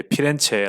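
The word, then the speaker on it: Firenze: 밑에 보면 이제 요 이탈리아 표기로 피렌체 없고 되어 있는데 우리 한국에서는 이제 피렌체 라고 읽어 주는 편입니다 플로렌스 는 이제 미국식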